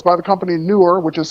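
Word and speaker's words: Neewer: newer boom arms so it's by the company newer which is spelled NE w r and I love these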